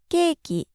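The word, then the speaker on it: ケーキ: it's Pizza we say cake in Japanese it's keiki and in English we'd say cookie or cookies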